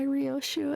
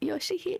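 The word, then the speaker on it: Ryōshū: It was already kind of spouted from the trailer that the whole reason she goes by Rioshu as a sinner and not Yoshi is because that's how her child pronounced it.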